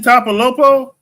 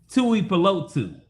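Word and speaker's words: Tuipulotu: It's Tui. Tui Palotu. And I hope the Chargers hear me say that right.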